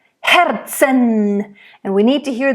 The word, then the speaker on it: Herzen: So again, Herzen, because the R is in the middle. I think here you should roll it. But make sure you really bring out all those consonants, the H, Herzen.